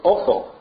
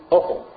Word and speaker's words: Ophel: Where is Ophel? Or O-P-H-E-L. I might be saying it wrong, but I say Ophel because it sounds better than awful.